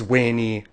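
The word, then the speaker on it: veni: wink at a and why Caesars phrase was weyni we D vici now before you go around enforcing reconstructed pronunciation on us getting the Pope to speak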